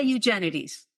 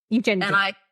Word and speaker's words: Eugenides: So I say Eugenides. Eugenides. And I say Aurelius and Teleus and the queen is Irene. And I pronounce it Edis, and the country is Sunis.